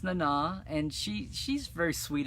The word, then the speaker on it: Nana: way uh clayton george nana visitor's first name is pronounced in na oh yeah uh sorry i've been pronouncing it nena learn something new every day well you're welcome but no uh yeah it's nana and she she's very